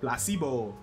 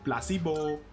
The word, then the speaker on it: placebo: still repeat after Meo the stress is on the middle syllable placeo Placebo Placebo very good you're fing